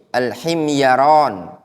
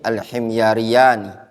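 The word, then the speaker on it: الحميريان: Fihi Al-Husain wa Abu Sa'id Al-Himyaran majhulani. Pada sanadnya ada Husain dan Abu Sa'id Al-Himyarayan. Keduanya majhul. Orang Yaman berarti dia, ya, Al-Himyari, Himyariyani, ya. Bacanya Al-Husain wa Abu Sa'id Al-Himyariyani.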